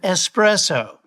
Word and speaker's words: espresso: What you want is an espresso. There's no X in the word.